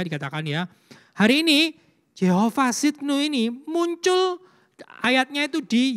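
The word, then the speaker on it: צדקנו: Yehova Sidkenu.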